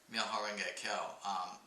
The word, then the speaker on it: Myoho-renge-kyo: hua ting and Japanese these Chinese characters are pronounced myoho renge Kyo know if you guys